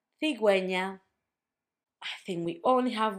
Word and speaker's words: cigüeña: That's if you want for the U to have a sound when you have gegi.